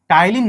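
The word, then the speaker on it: ptyalin: कौन परिवर्तित करता है, टाइलिन नाम का एंजाइम। टाइलिन की स्पेलिंग पी से शुरू होती है, टाइलिन।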